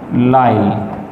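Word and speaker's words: Lisle: नाम है, rosette D लाइल, लाइल कैसे लिखा जाएगा, L apostrophe I एस एल ई, ठीक है, जैसे आइसलैंड में आइलैंड में एस साइलेंट होते हैं, इसी तरह यहाँ भी, ठीक है।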